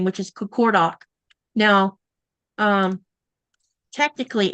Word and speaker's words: Qaqortoq: And you've probably seen me type this, my town name, which is Qaqortoq. Now, technically it's, hang on, I'll show you something. So it's spelled this way, but technically it's this.